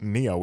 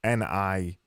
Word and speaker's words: Nioh: It's not Neo, is it? It's Nioh, and I was thinking Neo as in Matrix Neo. It's spelled Nioh, isn't it?